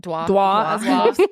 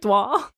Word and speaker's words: Dua: I guess Dua Lipa, right? That's how you say it? Dwa. Dwa.